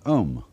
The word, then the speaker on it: Om: course the sound ohm that sound is used because if you spell it out a new M it runs from the back of your throat to your lips and therefore it contains the whole range of the voice and for that reason